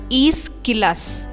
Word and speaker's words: Aeschylus: How to pronounce that word? Aeschylus.